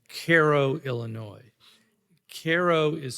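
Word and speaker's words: Cairo: to a a little town called Caro Illinois Koo is spelled c AI c a i r o like the city in egyp Egypt but as I quickly found out it's pronounced Koo um I went there to report for the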